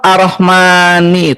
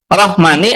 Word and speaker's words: الرحمن: dari segi penulisan ya, lafaz arrahmani itu seharusnya ada alif, Kang. Karena mimnya dibacanya panjang pendek, Kang Huda. Rahmani atau rahmani? Panjang ya. Panjang. Dalam bahasa Arab kalau sesuatu dibaca panjang, kalau dia fathah di depannya harus ada apa? Ada alif. Ada alif.